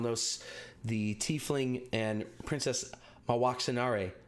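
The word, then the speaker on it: Mwaxanaré: the tiefling and princess my walks in RA there's actually an extra syllable in there by the way my walks up my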